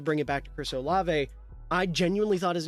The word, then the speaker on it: Olave: I I really did I was calling him Chris Ola until someone in my Tik Tok comments was like dude it's olave you are pissing me off say his name right uh so it's